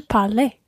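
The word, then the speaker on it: parlaient: Il parlait. So, again, there's a silent ENT at the end of the il form.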